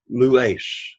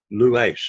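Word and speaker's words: λύεις: So the first word in the pronunciation is lues, lues. Now notice you have the accent on the penult. It's a two-syllable word, lues, lues.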